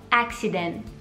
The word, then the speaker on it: accident: Per esempio, se voglio dire incidente, magari un italiano dirà accident, accident. Questo suono non c'è, non deve essere lì. Fate morire il suono prima di arrivare a quel accident.